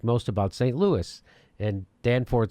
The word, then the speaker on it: Danforth: Danforth, right? Danforth, yeah. Danforth, that's how you say it.